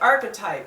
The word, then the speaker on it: archetype: Webster dictionary a couple sources and it said archetype and that's how I learned it in my